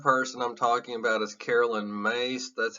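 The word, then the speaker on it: Caroline Myss: okay the third person I'm talking about is Carolyn mace that's how you say her name here she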